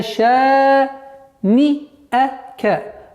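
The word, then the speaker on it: شَانِئَكَ: Нужно выделять вот нун и хамзу отдельности. Не ша ни ака, ша ни ака, ша ни а, нет. Ша ни ака. После шин у нас ударение в размере двух огласовок.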